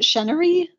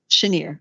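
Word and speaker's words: Cheniere: we had Comstock, CRK, and how do you pronounce it? Chenery? Is that how it's pronounced? Chenier.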